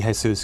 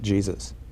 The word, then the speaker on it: Jesus: He's always, everyone, although it should be Jesus, because that was in recognition of the Mexican half of his family, everyone always pronounced it Jesus.